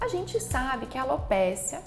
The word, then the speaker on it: alopecia: gente sabe que a alopécia quer dizer queda de cabelo alopecia né algumas pessoas pronunciam dessa forma quando a gente fala